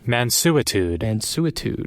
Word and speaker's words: mansuetude: I got the pronunciation here. Let's see. Mansuetude.